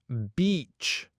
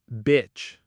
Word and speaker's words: beach: All right, first up, it's beach, not bitch. Remember that long E sound.